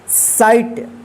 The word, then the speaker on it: sight: लाइट, SIGHT, साइट, HIGH, इसको क्या पढ़ा जाएगा? हाई, MIGHT, इसको क्या पढ़ेंगे? माइट। ध्यान रखिएगा आई के बाद GH रहता है तो आई का आई उच्चारण होगा, ठीक है।